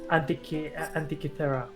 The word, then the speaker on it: Antikythera: here near the oh, Jesus Christ, I can't pronounce this thing. Antikythera.